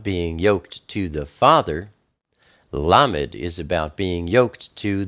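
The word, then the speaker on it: לָמֶד: Then we have Lamed. Lamed is the number 30. It's pronounced L like love.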